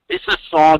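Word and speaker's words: Mississauga: UGA, not GUA. It's Auga, not Agua. Missisauga.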